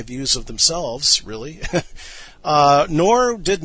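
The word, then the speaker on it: Knorr: to another figure here and that is nathan nor and i will have to spell that nathan's last name is spelled k-n-o-r-r nathan noor now whereas russell and rutherford were both dynamic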